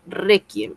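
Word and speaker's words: réquiem: Requiem. Requiem también lleva tilde porque reiem. Reem es una palabra grave. Tiene mayor fuerza de voz en la penúltima sílaba.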